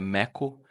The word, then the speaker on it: Mako: também explicando um pouco da logo, esse símbolo, ele é um adinkra, é um adinkra que se escreve Mako, mas a pronúncia é Meko, e ele significa oportunidade e desenvolvimento.